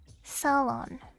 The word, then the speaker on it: Ceylon: Ceylon? Ceylon? Let me look it up again. I looked it up a little while ago. I forgot how to say it. Ceylon? Sa is in submarine. Salon.